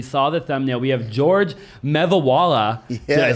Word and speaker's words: Geogre Mevawala: We have Geogre Mevawala. Yes. Did I say it right? Yes, sir. You got it. Geogre Mevawala.